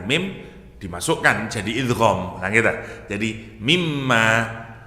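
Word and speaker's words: مِمَّ: dimasukkan jadi idghamah jadi mimma tapi mestinya alifnya panjang mimma gitu tapi di dalam dalam al-qur'an mananya dibuang alifnya bacanya gak boleh panjang mestinya kalau nurut gramar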